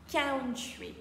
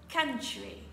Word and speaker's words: country: attention pour la prononciation j'ai déjà entendu en classe count mais malheureusement c est erroné on dira plutôt country encore une fois country pour dire j'adore mon